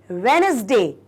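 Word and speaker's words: Wednesday: इसको क्या बोलेंगे वेनसडे यह जो डी होता है ना स्टूडेंट यह साइलेंट होता है ओके तो व्हाट वी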